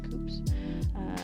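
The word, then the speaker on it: coupes: I mean, I guess technically that's the correct pronunciation, Coops, because of the French.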